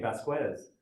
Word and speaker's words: Vasquez: assimilated American person, and he doesn't pronounce his name with a Spanish accent. He pronounces it with an Anglo accent.